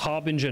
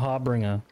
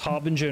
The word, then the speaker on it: harbinger: Dude, it's pronounced Harbinger, not Harbringer.